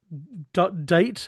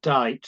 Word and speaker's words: dight: It is date. Is that date? Deight. Well, dite, because it's going to rhyme with night on the fourth line.